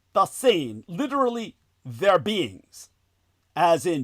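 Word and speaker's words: Dasein: Dain, literally their beings, as in being there now.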